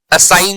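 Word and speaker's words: assign: ठीक है, जी साइलेंट है, असाइन में ये जी साइलेंट है, कैंपेन में जी साइलेंट है।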